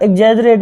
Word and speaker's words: exaggerate: तो इसकी right spelling होती है बेटा EXAGGERATE, है ना। एग्जैजरेट बोलते हैं।